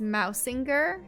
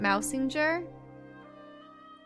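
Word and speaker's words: Mausinger: between our two kingdoms it's Mao singer not mousing jure we've been pronouncing it different characters pronounce it differently really the localization is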